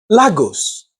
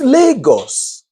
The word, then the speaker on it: Lagos: So, Canadians keep saying Lagos or Lagos. And Nigerians grumble. Excuse me? It's Lagos.